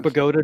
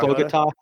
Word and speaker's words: Bogota: Or Bogota, New Jersey. Yep, Not Bogota.